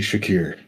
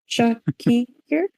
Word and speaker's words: Shakir: Seti Shakir. He's a That's doctor. too many syllables. He's a genius. No, that's 6. Doctor, said teacher. Yeah, it's 6. Shaki here? That's Shakir. Shakir. Oh, okay.